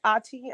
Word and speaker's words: Ati: It's pronounced Ati. I'm Nigerian.